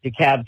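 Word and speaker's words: DeKalb: But if you ever have another Dicab County situation, you can not have to try so hard to pronounce that L cuz it's it's a silent L.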